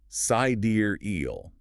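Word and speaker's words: Sideræl: And sidereal pronounced sidier eel.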